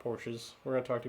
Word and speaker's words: Porsche: So the Germans pronounce it Porsche. Porsche. Yeah. But the Americans call it the Porsche? Or the porch?